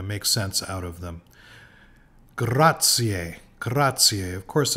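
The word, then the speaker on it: grazie: extra syllable graier graier the letter Z is usually pronounced like TS graier graier so the word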